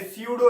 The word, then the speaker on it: pseudo: Similarly अगर किसी meaningful word से पहले स्यूडो लग जाए, पी साइलेंट होगा, PSEUDO स्यूडो, तो उसका मतलब होता है फॉल्स।